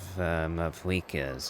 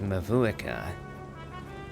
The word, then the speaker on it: Mavuika: Because when I read it as Mavuika. Kind of a Russianish sounding name. But then it's pronounced Mavuika, as if it has a W in the middle of it, or it has a V instead.